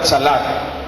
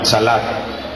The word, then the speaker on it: chalak: Viene de la palabra chalak, con C, C-H-A, termina en K. Sí, con acento en la última, chalak, que significa despedido por cualquier causa.